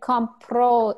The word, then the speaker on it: compro: But no, but then compro is I buy. No. Yeah, but it's a stress. Right. So compro is I buy. Compró is he bought.